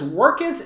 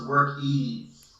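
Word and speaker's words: Workiz: Griffin's Junk Removal says, Workits is awesome. So thanks to Austin for that. Great. That's just... Thank you. We I want to correct you real quick. Since we're live, everybody, it's pronounced Workies. Workies.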